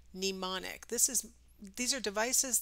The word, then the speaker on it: mnemonic: is a Latin term hence the strangely silent M at the beginning it's not pneumonic for some reason people pronounce it like pneumonia but there's no u in mnemonic it's just e mnemonic this is these are